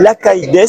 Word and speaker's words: Lacaille: Donc nous sommes en compagnie d'Odile Lacailles, c'est bien comme ça qu'on prononce.